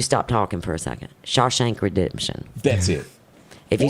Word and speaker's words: Shawshank Redemption: not seen it but i'm fishing fisting to mispronounce it the shame shock how you say it well you stopped talking for a second shawshank redemption that's it if you said it one more